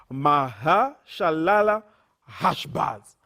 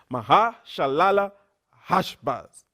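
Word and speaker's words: Maher-shalal-hash-baz: This is a hard name to pronounce, so I'll do it slowly. Mahashalala Hashbaz. Mahashalala Hashbaz.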